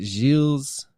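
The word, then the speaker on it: Gilles: janana in Madagascar now how do you say the French G i l l s isn't it like jills yes Jill's deette translated Beard's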